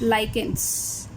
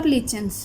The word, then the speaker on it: lichens: One more example that you are having in your syllabus is lichens or lichens. You can pronounce in any form.